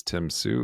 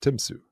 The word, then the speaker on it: Tymsy: Um, but again, thank you so much for joining us and yeah, the the name of the podcast is Tim Sue.